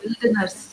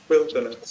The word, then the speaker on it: wilderness: அது வைல்டுன்னு படிச்சுங்க, இது எப்படி பாருங்க? வில்டர்னஸ். Wilderness. வில்டர்னஸ்னு படிக்கணும். வைல்டு வில்டர் சுருக்கி. Wilderness.